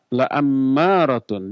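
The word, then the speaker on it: لَأَمَّارَةٌ: Ada inna, ada la ammaratun. Dibacanya la-nya pendek, bukan panjang. Kalau la-nya panjang, malah sebaliknya maknanya menjadi tidak. Kalau la pendek jadi pasti, kalau la panjang jadi tidak. Maka jangan salah baca.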